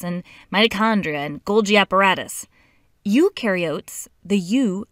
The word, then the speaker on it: eukaryotes: like the nucleus and mitochondria and Golgi apparatus eukaryotes the you rhymes with do they do have membrane bound organelles